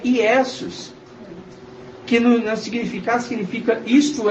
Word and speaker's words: Iesus: No latim a pronúncia é Iesus, que no significado significa isto é um porco, que era o sacrifício feito para Zeus.